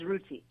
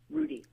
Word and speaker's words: Ruti: The name is Ruti. Ruti. What did I say? I'm sorry. Rudy. Rudy. That's just my own pronunciation. I do have a T in your name. That's American. That's American. Yes. You have to enunciate the T. Gotcha.